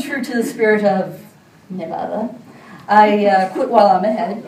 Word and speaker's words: Nevada: So I was pronouncing it Nevada instead of Nevada, which apparently is tantamount to strangling a newborn kitten in these which is kind of ironic, considering the name comes from the Spanish Nevada, which means snow-capped.